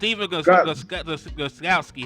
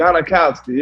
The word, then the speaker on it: Gostkowski: Stephen Gostkowski. How do you say his name? Gostkowski, yeah.